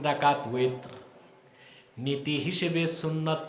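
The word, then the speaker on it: وتر: তারপরে কি 3 রাকাত, বেতের না উইতর। এটার উচ্চারণ আমরা ভুল করি, বলে বেতের। বেতের শব্দ আছে নাকি?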